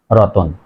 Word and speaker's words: রতন: তার মানে অ আছে, তাহলে এই মাঝের অ এর উচ্চারণ ওকার হবে, সে কারণে উচ্চারণ হবে রতন, র তয়কার দন্তন্য হস, রতন।